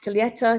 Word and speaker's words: Colheita: So it's the Kopke white Colheita. Do you say Colheita? I never know how to pronounce it. Yes, colheita. Colheita. I Colheita.